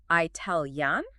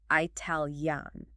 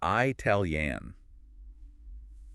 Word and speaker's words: Italian: Do you say Italian or do you say Italian? So the preferred pronunciation, according to Lewis and Educated Standards, is the first one. It's Italian. Starting with an I sound is one of the most common phonetic traps out there.